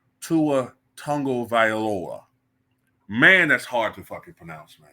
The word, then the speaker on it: Tagovailoa: I'm looking at it I want to say tu a tag of Viola but apparent apparently his name is Tua tongo viora man that's hard to